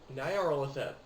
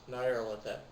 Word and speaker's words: Nyarlathotep: For instance, you have, how do you pronounce his name? Nyarlathotep. Yes, Nyarlathotep, who is essentially an insidious being who travels from dimension to dimension.